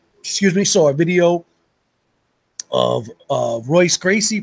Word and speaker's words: Royce Gracie: saw a video of Royce Gracie pronounced hoist Gracie and Ken shimmer and